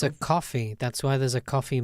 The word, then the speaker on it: Ko-fi: But British people might say Kofi or something. Well, they say coffee because the whole point is that you've got a mug. You're paying for their coffee, but they can't say coffee.